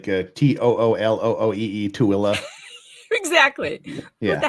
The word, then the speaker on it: Tooele: Yes, some of mine are favorite, like Toolooee, Tooele.